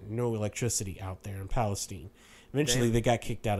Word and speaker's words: Palestine: They had to move to Palestine, Texas, which is spelled like Palestine, but we say Palestine here in Texas.